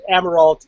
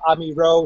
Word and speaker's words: Amirault: name sir uh am I pronounce it amerald it's French it's probably amiro something like that but uh but the amerals uh in the United States uh call themselves ameral okay yeah we got